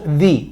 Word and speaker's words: the: es sonido de vocal por lo tanto de pronunciamos di di Apple di elephant the Orange Ok Esa es